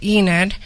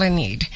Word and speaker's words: Enid: you look at it you want to say Enid like Oklahoma but I tell people when you have a need call a need so that way you can remember how to pronounce my name I'm a community leader